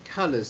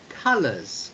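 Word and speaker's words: colours: can pronounce this word colors c-o-l-o-u-r-s and the first o is pronounced like the letter u so you would pronounce this word ca colors colors colors okay that's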